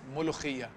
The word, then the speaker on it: molokhiya: We are making, ready, 1, 2, 3, molokhiya. Firstly, help me pronounce this. You did a fantastic job. Come on. Ready? It's molokhiya.